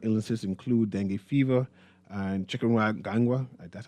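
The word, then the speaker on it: chikungunya: Mosquitoborn illnesses include deni fever and chicken ganga. That's how you pronounce it and are present.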